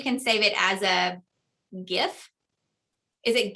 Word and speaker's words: GIF: I kind of think GIF because GIF is GIF, right? Well, see, I always think of peanut butter, and that's how I say GIF, like the GIF, but I don't Me know.